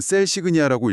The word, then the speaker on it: CELsignia: 셀큐에티가 단순히 게다툴리십이라는 유망한 약물 하나만 가진 회사가 아니라는 점을 좀 주목해 볼 필요가 있습니다.이 회사는 CL 스기니아, 우리말로는 셀그니아라고 읽으면 될 것 같은데요.이 독자적인 진단 플랫폼 기술을 가지고 있습니다.